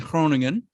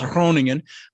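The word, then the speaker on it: Groningen: but my family's in kroningen the G is like it's hard to pronounce kroningen uh but uh no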